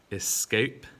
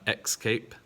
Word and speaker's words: escape: next set we've got escape and not x cape now this one those